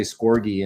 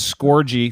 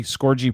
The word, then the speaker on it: Scorgie: right because it's the other otherwise people say scorgee and it it's not pronounced that way so yeah i got it i got it but it's scorgy skorgy productions um what movies are you working on